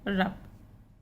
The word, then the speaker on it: rough: OUGH, यहाँ पे OU silent है, इनका उच्चारण हो रहा है बस, सभी में OU साइलेंट है। ROUGH रफ, LAUGH लॉफ, और ये बना है लॉफ्टर, इसी से बना लॉफ्टर।